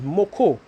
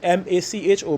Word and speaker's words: macho: Burro banana is also known in Trinidad as moko, or in the rightful pronunciation terminology as is M-A-C-H-O, but we call it moko, is macho plantain, right?